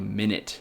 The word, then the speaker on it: Minit: All right, now the third game that I think all game developers should play is a game called Minit. It's spelled M-I-N-I-T.